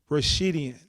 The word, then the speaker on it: Rashidian: I have Amir Rash- pronounce that for me, Rashidian. Rashidian, and I told Yeah.